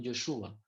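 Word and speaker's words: ישוע: Ustedes saben cómo se dice Josué en hebreo, se dice Yeshua o Joshua, sería más bien Yeshua.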